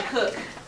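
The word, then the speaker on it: Koch: Anyway, next guy, Cook. It's pronounced Cook. He's German.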